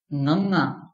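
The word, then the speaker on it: ਙ: The sound will be Nga, and the pronunciation will be Nganga. Sometimes people use to represent it with G, but it will be wrong because it will not be sounding like a G or a G. So it is different. Nganga is the pronunciation.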